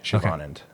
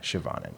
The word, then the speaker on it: Siobhan: Yeah, there's a hidden h. Siobhan. Siobhan. Yeah. And the accent is in the on. Yeah. Siobhan.